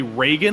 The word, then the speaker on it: Reagan: I also gotta make sure I say his name correctly, Reagan, because I think I dropped a couple. I think I dropped a couple of Regans there.